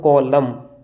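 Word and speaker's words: column: में आए तो यहाँ पर हमने एन को साइलेंट कर दिया। ऑटम हमने नहीं, ये अंग्रेजी का रूल है। ये लिखा है हमने कॉलम, डम ये लिखा हमने हम, हाइम।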